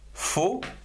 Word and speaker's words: faux: Avec faux, F-A-U, faux, on a par exemple lorsque c'est faux. Ici, F-A-U-X, mais on ne le prononce pas. Faux, une syllabe.